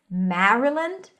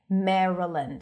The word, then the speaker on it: Maryland: Some people might pronounce it more with an A sound. Maryland. But when the A appears before an R, people usually shift it to an E. Maryland. So it's less about the pronunciation of the state. It's more about what happens to the as in cat sound before an R turns into an E.